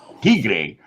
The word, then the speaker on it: Tigre: Tigre, pronounced Tigre, Spanish for tiger, Natch.